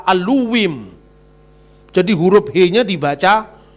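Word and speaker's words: אלוהים: Bukan Bereshit bara Elohim tapi Berashit bara Aluwim.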